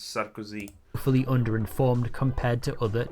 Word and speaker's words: Sarkozy: Also, that's not how you pronounce him. It's Sarkozy.